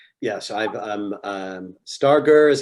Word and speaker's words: Starger: at u-bolt u-b-a-l-t dot e-d-u thank you for pronouncing that because i always thought it was starcher yes um star gur is how my dad says it so that's